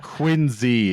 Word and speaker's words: Quincy: LIAM: 'Quin-zee' is, like I said, the suburb of Boston.